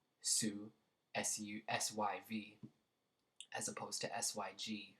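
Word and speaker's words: syv: If you watched the last video, I said be careful when you're pronouncing sick because it sounds also like the number 7, su, S-U-S-Y-V, as opposed to S-Y-G for sick.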